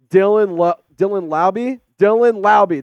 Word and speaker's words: Dylan Laube: Dylan Laube, that's how you pronounce it.